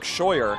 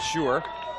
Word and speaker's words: Scheuer: I apologize if any family members of this guy, but they said it's pronounced Luke Scheuer, not Schuer.